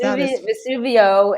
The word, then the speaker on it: Vesuvio: That is Vesuvio is how you pronounce it in Italy, and I just absolutely we have a relationship.